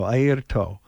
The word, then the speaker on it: Airto: Points to his eye, his ear, and his toe, Airto Moreira.